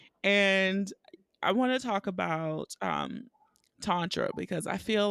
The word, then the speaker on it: Tantra: from the point that Tantra is liberation. okay. That's one of the many ways you can break down the word. Um, it's a Sanskrit word that has two syllables, And the first is tan, and tan can, you